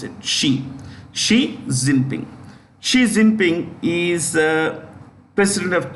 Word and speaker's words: Xi Jinping: Look at that. Xi Jinping. That's how you pronounce it. Xi Jinping.